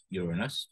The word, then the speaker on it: Uranus: the planet Uranus, and that is how you pronounce it, Uranus. Uranus is on its side and it spins.